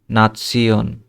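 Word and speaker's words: Nation: নেশন, ঠিক আছে? কিন্তু এটা কি হবে? নাৎসিয়ন, নাৎসিয়ন।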